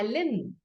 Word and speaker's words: limb: I hurt my limb. Okay, so the B is silent here and the combination of M and B.